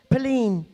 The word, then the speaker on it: palin: And it pronounces palin.